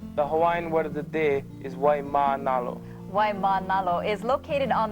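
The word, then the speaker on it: Waimānalo: words most folks think they know but frequently mispronounce Aloha the word the day is why Manalo why Manalo is located on the Winward side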